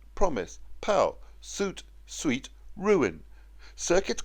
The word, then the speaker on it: circuit: Circuit, conduit rhyme with shirk it and beyond it.